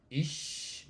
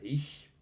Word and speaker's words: ich: norte hacia el sur, que sería como is más hacia el norte, hacia el centro sería ich, por decirlo de alguna forma. Y ya en el sur de Alemania no encontrar sino un, ya no dicen is ni is sino ik, ik bin dabet.